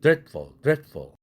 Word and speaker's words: dreadful: 발음이. 그래서 dreadful 이렇게 된다는 얘기입니다.